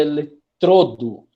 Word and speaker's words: eletrodo: O correto é eletrodo. Tá? Eletrodo. O som está aqui no meio. Deixa eu colocar aqui. Fofuras. Aí você vai pronunciar eletrodo ou eletrodo? Como é que fica esse som? Aberto ou fechado? Fechado.